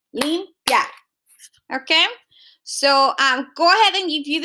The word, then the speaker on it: limpiar: When you have a combination of a weak and a strong vowel, they stay in the same syllable, limpiar.